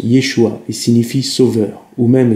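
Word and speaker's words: ישוע: Jésus en hébreu se prononce Yeshua et signifie sauveur, ou même salut.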